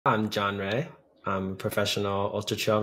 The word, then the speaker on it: Rea: try to change it, so I'll keep it spelled that way, but it's pronounced Rea.